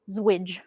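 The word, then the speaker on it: ZWJ: two a special character known as a zero width joiner allegedly pronounced as zwidge this character is also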